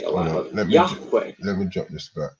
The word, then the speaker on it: Yahweh: So in the next sentence, God tells Moses the version he should say aloud, Yahweh, the God of our ancestors. Now, obviously, that's a wrong pronunciation. It's Yahweh. Yeah.